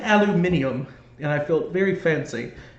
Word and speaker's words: aluminium: So luckily the school nurse who also um helped with announcements told me that the British say it as aluminium. So I said aluminium and I felt very